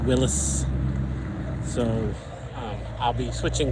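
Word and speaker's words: Willys: and and Willies Willis my generation is always pronounced them Willies but the uh the oldtimers I always say it's pronounced Willis so um I'll be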